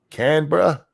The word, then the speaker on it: Canberra: Dangerous says it's pronounced like a stoner asking for a beer. Canberra?